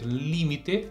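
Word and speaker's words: límite: frente como mais forte a gente diz limite Então a gente vai dizer limite o acento serve justamente para nos dar ideia de sílaba tônica de sílaba mais forte e é por isso que essa pronúncia é dessa forma com a força no Li é só repetir porque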